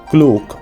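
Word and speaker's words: Klook: children so we booked a ticket immediately through cluke which is an app which is commonly used in the Asian countries which is quite useful and it's spelled like k l o o k clo app which is which is quite good after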